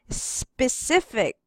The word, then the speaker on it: specific: When you read the first syllable, you will not say sipi, but the sound of the S only. You will not add C, but sp. Sp. P. Yes. Specific.